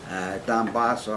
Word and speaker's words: Dombasle: It's Dombasle. Dombasle, I always pronounced it, and I directed